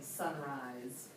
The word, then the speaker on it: sunrise: What does this S say in sunrise? It says Z, right? It says that Z sound Z.